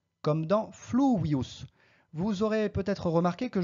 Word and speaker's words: fluvius: La prononciation correcte, c'est fluvius, mais si vous prononcez à la française fluvius avec un V français, cela n'a aucune importance, on vous comprendra très très bien.